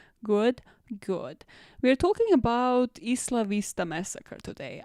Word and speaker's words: Isla Vista: isla vista massacre today i have heard this place being pronounced completely differently and i'm gonna tell you all that you are wrong because if this is a place named in spanish that is how it should be pronounced cool now the two